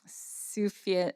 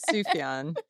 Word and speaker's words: Sufjan: And Sufjan, is it Sufjan Stevens? Sufjan.